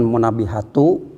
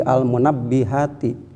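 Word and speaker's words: المنبهات: nasihat-nasihat tersebut ayil munabbihati dibacanya jangan munabbihatu jangan pula munabbihata tetapi almunabbihati Kenapa dikarenakan jadi penjelasan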